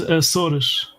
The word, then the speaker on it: Açores: In Portuguese is Açores, but you guys. Yeah, in English is Azores. With a Z. Yeah, in English is with a Z.